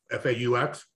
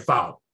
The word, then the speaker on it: faux: yes yes yes and i kept calling it foul faux fur because it's spelled f-a-u-s it looks like should be foul or fox yeah say fox uh yeah